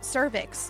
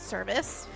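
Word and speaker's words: cervix: Servix, not service.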